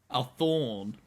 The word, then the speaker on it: Thawne: Thorn.